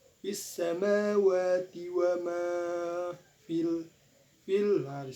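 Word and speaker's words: السماوات: Nah, di sini ada hukum bacaan mad tabi'i. Mengapa? Sebab huruf waw dan mim berharokat fathah berdiri. Fis samawati wa ma fil.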